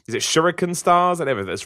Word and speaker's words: shuriken: I think it's saying it right is it shuriken stars and everything that's right shuriken but whatever the exam yeah like you can